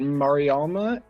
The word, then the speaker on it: Mariama: if i could have is it mariama and lusilf did i pronounce your names correctly i don't want to say it wrong the whole time yes amazing okay yeah it's lusil all right we have